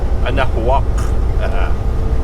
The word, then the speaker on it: Anahuac: How do you pronounce Anahuac? Anahuac? Yeah. Anahuac.